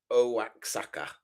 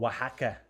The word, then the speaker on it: Oaxaca: Alebrijes Oaxaca. Oh, Oaxaca. Yeah. Oaxaca, is that right? Yeah, Oaxaca. those X's are all over the place, all silent and stuff.